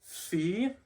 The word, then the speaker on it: phi: So this makes closest to what is the English F sound, fee.